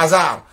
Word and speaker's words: hasard: Il y a un H muet que tu dois mettre en avant. On t'a dit que hasard, le H là, on ne l'attend pas. Il est muet.